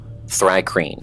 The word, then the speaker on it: Thri-kreen: this D&D has it's pronounced. So give me 1 sec. Oh. Thri-kreen.